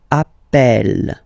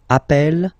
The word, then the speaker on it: appelle: So when you get this E vowel, and then you get a double consonant, and well, they are the same, then it does change the pronunciation of E. You tend to pronounce it like E, E, really open. That's the reason why you pronounce it appel, appel, okay? Appel, appel, appel, and appel. All right?